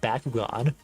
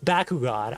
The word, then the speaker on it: Bakugan: And we're gonna be talking about Bakugan.